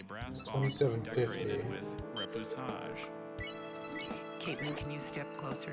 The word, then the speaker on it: repoussage: Repoussage. There's no alternate pronunciations, just repoussage.